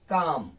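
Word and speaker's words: calm: करम पढ़ेंगे अगला है कम क्योंकि इल साइलेंट हो जाता है साइलेंट लेटर हम लोग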